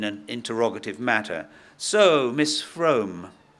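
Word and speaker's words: Frome: interrogative matter so miss FR it rhymes with plume FR but please call me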